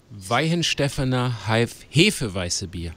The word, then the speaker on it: Weihenstephaner Hefeweissbier: Weihenstephaner Hefeweissbier. Hefeweissbier. Yeah. That's exactly how I would have said it. The official pronunciation.